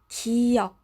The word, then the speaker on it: 기역: This letter is called 기역. It's pronounced as the K sound, sometimes the G sound.